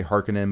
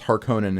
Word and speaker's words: Harkonnen: as i know yeah it's probably right to say hearken in but it just sounds weird to me it's harkonnen in the original one yeah um but that